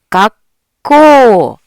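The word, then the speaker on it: がっこう: 자, 코우는 코라고 장음으로 발음해 주시면 돼요. 자, 해볼까요? 각고, 각고. 네, 가윽코라고 하셨나요? 하는 사이에 한 박자 지나가는 거죠. 그 다음 코는 약간 꼬로 발음이 되면서 장음으로 갖고, 갖고.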